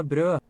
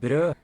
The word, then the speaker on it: brød: Like, Brød. Brød. okay, and that's the O slash, brød.